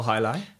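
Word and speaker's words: jai: Uh or in English, it's often easier for people to just pronounce as an H.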